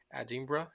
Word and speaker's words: Edinburgh: I'm I'm from Edinburgh Edinburgh yeah this is how we pronounce that this is a city